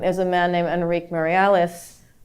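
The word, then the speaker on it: Meirelles: a man named Enrique marialis I pronounced it Marise because for some reason my Portuguese is very bad I was I was corrected last night actually in Berkeley about my pronunciation of his name but he was someone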